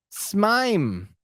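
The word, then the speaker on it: S/MIME: a pain to use Matt how do you say that smeim it's s mom s mime I see somebody doesn't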